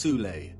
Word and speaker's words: Thule: society within germany called the soul society sometimes alternatively pronounced thule that had sub-factions within